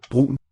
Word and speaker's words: brun: Brun. And it kind of breaks the word into two syllables if you listen. Brun. B-R-U-N, you'd expect it to be one.